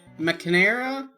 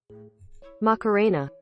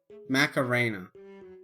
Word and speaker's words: Macarena: various playlists i switched to the mcnierra mcnairo mckinnera mckinnera how do you say that man macarena macarena oh i see this is appropriate listen son